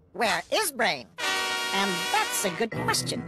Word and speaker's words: WereBrain: oh where brain gr Penny it's pronounced where is brain and that's a good question it worked I